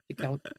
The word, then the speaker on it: Sitkowski: Is it a silent T or do you just pronounce it really subtly? I'm not very good at words, so I pronounce it probably subtly.